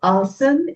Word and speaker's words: asana: Uh this is uh this is called assan in Sanskrit and Hindi language but there's always an a in front in English so we call as otherwise it's called assan sometimes I may pronounce it that way as so please understand